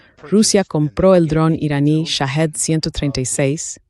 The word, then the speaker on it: Shahed: El nombre, la pronunciación correcta en Persa es Shahed. Shahed significa testigo, pero Shahid en persa significa mártir.